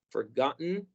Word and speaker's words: forgotten: En este caso, estas T's no van a sonar como R, como en muchos casos, sí van a sonar muy fuerte, como ten, o bien podemos eliminarlas o marcarlas mucho, pero no pronunciarlas suave como en otras situaciones en las que tenemos T's en medio de vocales.